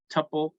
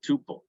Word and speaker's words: tuple: Okay, so tuple is another type, and it's pronounced tuple or tuple. You can pronounce it any way you want to.